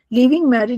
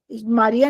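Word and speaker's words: Marie: of madam क्यूरी वाज़ मार मारी मारिया नहीं इट्स मैरी स्क्लोवस्की डी is silent स्क्लोविस्की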